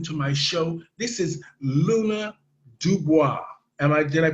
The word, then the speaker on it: Luna Dubois: This is Luna Dubois. Did I pronounce it right? Yes, that was Luna Dubois.